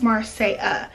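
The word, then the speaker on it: Marsai: It has apostrophe at the end over the I, and it's, the A is silent, I guess, because it's spelled M-A-R-S-A-I, but it's Marseille.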